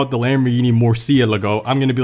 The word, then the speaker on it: Murciélago: call it the Lamborghini Murciélago, I'm gonna be like, that's alright by me. If you call it the Murciélago, which they call it on Top Gear, that's how they say it. Murciélago.